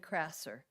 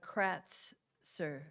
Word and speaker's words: Kratzer: And it's the name of Krasser. It's actually Kratzer. It's with the H at the end, and then I can spell it for you, Kratzer.